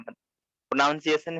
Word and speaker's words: pronunciation: हाँ, नाउन क्यों बोलते हो? NOUN थोड़ा है वहां पर, NUN है। NOUN नहीं है, NUN है ना? प्रोनाउंसिएशन।